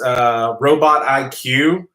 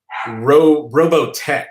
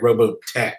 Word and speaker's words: Roboteq: It's actually, I think it's Robotech, actually, and it's spelled ROBOTEQ. So yeah, I think that's, you're supposed to say it Robotech, I guess.